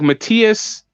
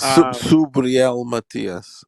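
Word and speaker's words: Subriel Matías: Yeah, as soon as you see him, like Matias, spelled like Mathis. Is it Subriel Matias?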